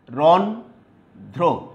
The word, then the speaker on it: রন্ধ্র: তুমি দেখো, অন্ধ্র, এখানে দ্বিতীয় উচ্চারণ করার কোনো সুযোগ নাই। তারপরে রন্ধ্র, রন্ধ্র, তারপরে কম্প্র, দেখো কম্প্র।